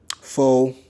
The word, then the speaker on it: pho: Pho, for the people that don't know, it's pronounced pho.